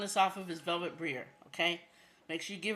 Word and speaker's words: Briere: Just say Brier, I guess. I mean, Velvet Brier is how you say it.